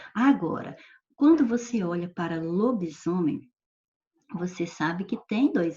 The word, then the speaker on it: lobisomem: Veja bem que em lobo e em homem, você não percebe nem som de I, nem som de Z. Não tem Z a letra na palavra, mas tem o som de Z, ó, lobisomem, lobisomem. Então, houve alteração fonética.